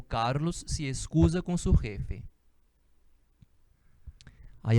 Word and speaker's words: jefe: O J em espanhol tem um som parecido com R, né? Jefe. E a gente entende, né? Quando pronuncia direitinho, jefe.